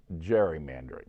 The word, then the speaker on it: gerrymandering: a salamander and so they added the word geary to mander and they came up with geary mandarin but they ended up pronouncing it gerrymandering with the soft g so that's how